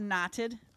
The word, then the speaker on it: Knotted: So, this is called Knotted. Uh K N O T T E D. I always spell it because in a bar or whatever people be like, "What did you say?"